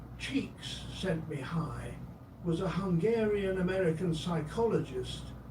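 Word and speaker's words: Csikszentmihalyi: Mihali cheeks zent mihali pronounced approximately cheeks sent me high was a Hungarian American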